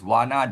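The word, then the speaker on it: warna: Malay malay is wana w a r n a.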